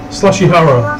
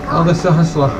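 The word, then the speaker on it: Sahasrahla: They severely mispronounced, oh, look, it's Sahashwala. Slashihara. Sahashwala. Elder Sahashwala.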